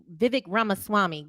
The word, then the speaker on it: Ramaswamy: DM me I said it wrong I'm sorry Vivek ramaswamy go ahead Kayla um again to the point